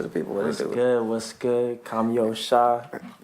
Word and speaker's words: Kami Osha: what's up to the people it was good come yo shot cameo Shah make sure y'all pronounce that right for the V dig and